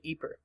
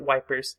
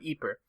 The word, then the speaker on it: Ypres: the English language constructs this basically just results in the British soldiers and citizens back home calling it wipers and being done with it I won't go quite